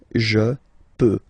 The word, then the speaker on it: peux: Final x not pronounced here, okay? So you get x, but you don't pronounce it, so basically you get the sound peut, je peux.